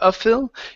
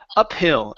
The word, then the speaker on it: uphill: This word is two words together: up and hill. So instead of uphill, it's up, uphill, uphill climb, and added an uphill climb.